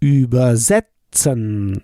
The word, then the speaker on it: übersetzen: You can recognize and identify them sometimes with the stress of the syllable. Übersetzen. So über is not stressed. It's not separable.